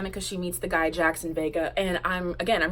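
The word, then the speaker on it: Jaxon: but somehow I that his name wasn't spelled Jackson normally and I was right it's spelled J a XO n Jackson because it has to have an X because he was a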